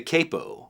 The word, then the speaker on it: capo: Tommy at the g7th Capo company in the UK calls it the Capo that's technically a more accurate pronunciation because the original word is capotasto which is Italian for head tie because we sort of